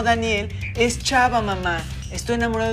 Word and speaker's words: Danielle: Pero se escribe D-A-N-I-E, doble L-E. Aunque se pronuncie como Daniel, es chava, mamá.